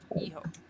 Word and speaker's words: Hijo: You ignore the H, you pronounce the I like an E, and the J like an H.